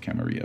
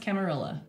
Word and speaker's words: Camarilla: make an argument that it would should be pronounced camaria but yes a German started German created camarilla hello so it's pronounced camarilla and then the whole saat thing I don't